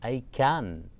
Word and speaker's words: ICAN: given to a campaign which is called as ICAN, or you can pronounce it as ICAN, which stands for International Campaign to Abolish Nuclear Weapons.